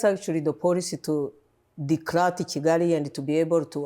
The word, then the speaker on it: Kigali: Yeah, it's hard for people to pronounce Kigali because they say Kigali, but it's Kigali.